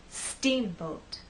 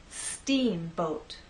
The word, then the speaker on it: steamboat: Steamboat. Now, we also need to make that first part longer, and then the second part will be shorter. Let's try that. Steamboat.